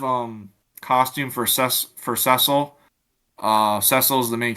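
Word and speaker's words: Cecil: costume that wrong my whole life well that's cesil that's his name that's how to pronounce it's cile Harvey um but anyway yeah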